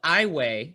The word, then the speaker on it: Iowa: in a town called iway spelled like iowa the state pronounced i way i don't know why um